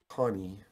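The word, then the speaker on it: Conee: cider Ted cider and Earl Connie which I think is spelled c-o-n-e-e wrote a book called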